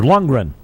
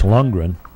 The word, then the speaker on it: Lundgren: been a victim here Lundgren straight he's got a J at it in there but using the Swedish pronunciation that I think it's Lungren it could be younggren daughter first and one